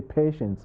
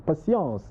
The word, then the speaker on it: Patience: can't pronounce my name they always say patience i say no it's passions it's a french name maybe here in the